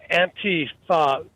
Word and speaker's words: Antifa: Yeah, it's uh the correct correct pronunciation is Antifa. It's two words.